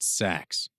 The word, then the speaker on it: seax: It's pronounced sachs, the guard said, pronouncing the word with a short a sound and shortening it to one syllable.